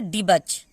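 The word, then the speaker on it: debauch: उसके बाद है डी बच, यहाँ पे देखिए डी बच, यहाँ पे यू साइलेंट है।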